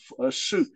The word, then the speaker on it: shi: Imagine S-H-E-U, okay, sure. Okay, S-H-E, for an English speaker, if he see S-H-E-U, he would pronounce something like sure, right? That's correct. That would be the right pronunciation for S-H-I at the fourth tone when transliterated with the pinyin system.